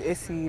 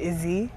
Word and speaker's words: Issy: When I tell people my name is Issy, like, sometimes they turn it to Izzy.